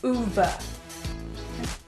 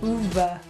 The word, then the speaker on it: Ove: So I wanted to know how to actually say it, so I looked it up, and it's actually pronounced Ove. Like this. Ove. Ove. Ove.